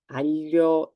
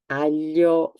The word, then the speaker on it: aglio: This is aglio. Aglio is garlic. Famiglia, family. Moglie, wife. So sound ye. Aglio, famiglia, moglie.